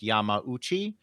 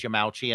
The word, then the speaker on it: Yamauchi: not great but um we're using the pronunciation Yami uh one looking at these might uh logically believe it should be pronounced Yamauchi uh but it does appear that uh people in Nintendo uh including American Staff uh addressed him as yamachi and I did find